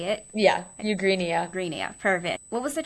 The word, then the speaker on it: Eugenia: Yeah, Eugenia.